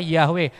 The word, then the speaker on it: Yahweh: berubah namanya adalah yahwe namanya dituliskan dengan empat huruf Yo hai dan dibaca Yahweh tahu dari mana Pak bacanya Yahweh gampang karena para imam para